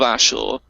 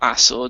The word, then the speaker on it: Ashur: First was the kingdom of Ashur, or Assur, depending on how you want to run the pronunciation, which was the specific area of Assyria.